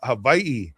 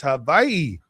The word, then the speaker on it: Hawaii: Uh, Havi. It's Havi. Uh, that's how the locals say it. And the the W is a V.